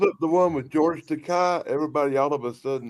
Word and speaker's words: Takei: He pronounces it Takei. Right, yeah. It's Takei.